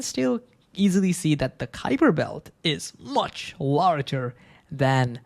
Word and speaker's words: Kuiper: Yes, it has a U in it, but still we usually pronounce it Kuiper.